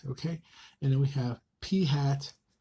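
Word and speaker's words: p̂: Okay, that's how you pronounce this guy. It's called p hat.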